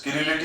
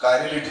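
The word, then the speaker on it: chirality: कुछ टीचर्स किरेलिटी भी बोलते हैं, कुछ टीचर्स कायरेलिटी भी बोलते हैं। आप इसको परेशान ना हो, ठीक है भाई। टर्म्स प्रोनाउंस अलग कर रहे हैं वो बस, ठीक है।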